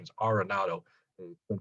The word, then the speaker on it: Arenado: to all learn that he says the correct pronunciation is arenado he's been pronounced aronado and i'm probably guilty of that as anybody but i'm going to try my best to always pronounce it arenado which is how he said he is the